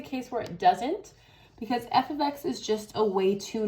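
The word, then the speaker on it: f(x): function notation and f parentheses x is actually pronounced as f of x so we don't read it as f parentheses x we read it as f of x in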